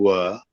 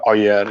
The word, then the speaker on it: were: So my points were, I'm pronouncing were, not oyer.